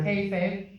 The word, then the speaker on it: kayfabe: Kayfabe.